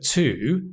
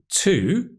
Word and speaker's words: to: Because here, to, well, did you know the word to has 2 pronunciations? It can be to, which is the strong form when we stress the word, but it can also be to. And we call this the weak form, to, which is when the word is unstressed.